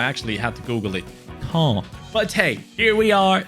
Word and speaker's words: Caen: And yes, that is apparently how you pronounce him. I actually had to Google it. Caen.